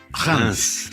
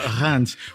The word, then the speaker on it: Reims: He goes, "Nothing of what he goes. It's Reims." Reims. So don't say that. Okay. So he's a native of Reims, which to many people,